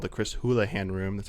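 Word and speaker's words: Houlihan: you can access uh it's called the Chris hoolahan room that's how you pronounce his last name I used to pronounce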